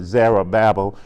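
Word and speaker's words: Zerubbabel: there's a ruble Dale some say the ruble belt some pronounce that Zahra Babel it doesn't matter then the zulu bubele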